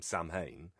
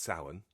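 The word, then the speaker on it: Samhain: reading uh which I called at the time Sam Hayne, but I now know of course that it would be pronounced sin.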